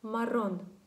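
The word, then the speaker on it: marrón: Запам'ятайте, якщо R одненька стоїть на початку слова, або якщо всередині слова є дві букви R підряд, і дві букви R підряд, то тоді вона вимовляється сильніше.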